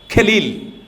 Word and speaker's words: খলিল: এইচ এল আই এল আরবিতে যেটা খ ইংরেজিতে উচ্চারণ করতে এটা কে এইচ লাগে খলিল খলিল জিব্রান তো এটা যখন বাঙালি কবি যখন এটাকে অনুবাদ করেছে উনি উনার মত করে কাহালিল জিব্রান লিখে দিয়েছে আর